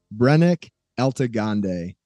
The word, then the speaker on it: Brennik Eltagonde: a very very special guest out in Utah brenick elag gande brenick how are you man I'm doing good